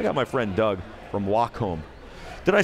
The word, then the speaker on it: Wacom: You become the industry standard of like 8 industries, and yet nobody knows how to pronounce the name. You got it right. It's Wacom.